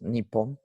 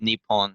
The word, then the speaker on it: Nippon: probably something to do with like the other pronunciation of japan's japanese name um which is nippon and then they probably took like some part